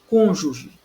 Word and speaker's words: cônjuge: Cônjuge, nós temos aí uma trissílaba, certo? Temos aí uma trissílaba e a com, né? O com é a... Nós temos a última, penúltima, é a antepenúltima sílaba. Então, não é a penúltima.